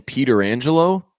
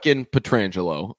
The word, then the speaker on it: Pietrangelo: incorrectly or correctly are saying Peter Angelo that's not the correct who can't be that it's absolutely not that unless it's like unless it's like a Martian Martian thing where people were saying it wrong for years and years and years just excited it's Pietrangelo okay I love Alex